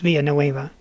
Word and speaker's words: Villanueva: far it sounds a lot like our Sheriff via no Ava I think they meant to say via no Ava okay it's pronounced via no Ava you should checked out the